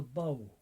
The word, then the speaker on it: Badhbh: the banshee at all she's called the bow b-a-d-h-b-h to spell it in irish she tends to be